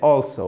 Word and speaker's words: also: Alors, là, il y a un accent tonique, c'est also, ok?